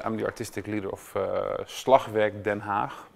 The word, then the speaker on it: Slagwerk Den Haag: I'm ferritin so I'm the artistic leader of Slovak than half pronounced in Dutch to actually to start right away